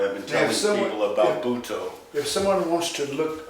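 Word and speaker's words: Butoh: Anyway, I've been telling people about Buto. If someone wants to look up this dance, how do you spell it?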